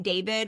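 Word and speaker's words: D4vd: Anthony Burke who goes by the stage name David, which is spelled D the number 4 V D.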